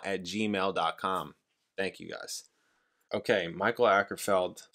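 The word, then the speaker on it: Mikael Åkerfeldt: thank you guys okay Michael ackerfeld that's how you pronounce his name instead of the album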